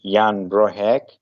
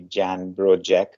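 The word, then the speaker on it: Jan Brożek: we will talk about I think the pronunciation should be Yan broh uh he was a Polish polymath or you know the not not so good pronunciation would be Jan broj or broak but anyways so he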